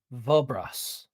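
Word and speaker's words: Vobras: That singular person was vulras. For those taking notes, it is spelled V O B R A S.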